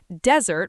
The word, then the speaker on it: desert: Dessert with two s's has the stress on the second syllable. Desert with one s has the stress on the first syllable.